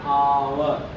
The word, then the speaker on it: hour: a house an our H H is a silent letter an hour okay next like this